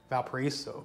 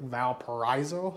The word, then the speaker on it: Valparaiso: watched one video, and they were pronouncing it Valparaiso, and that's why I've been pronouncing it Valparaiso. But my stepdad is from that area, as well as the Apple Maps is pronouncing it Valparaiso, so I guess that's how it's actually pronounced.